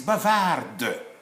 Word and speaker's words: bavard: When this D, silent D, if it is masculine, because gender is very important in French, when it is masculine, it is silent D. If it becomes feminine, now it becomes audible. A lady who's making noise is bavarde. But a boy who's making noise is just bavard.